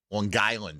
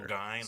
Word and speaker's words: Long Island: Long Island is how you say it, sir. Long Island.